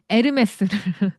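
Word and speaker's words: Hermès: 프랑스는 H는 묵음입니다. 어, H는 그냥 안 보인다라고 생각하셔야 돼요. 아예 발음이 없어. 아예. 그래서 유명한 거 있잖아요. 그 유명한 브랜드 에르메스를.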